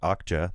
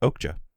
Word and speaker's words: Okja: I called it Okja the last 2 weeks because I didn't know any better. Right. But all throughout the movie, it's pronounced Okja.